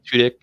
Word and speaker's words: Tudyk: So then the next day, Alan Tudyk, is that how you say his name? Tudyk. Yeah, Tudyk.